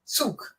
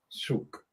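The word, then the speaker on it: Zug: pronunciation first of all Suk more like TS yeah that's whyat Suk okay that's angut um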